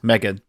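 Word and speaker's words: M3GAN: Megan. No, Megan. He's written it phonetically here.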